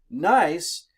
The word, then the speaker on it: gneiss: nice rock did you okay but it's spelled GN e is s I think but don't trust my spelling please okay but this is nice nice used to be granite gneiss is a metamorphic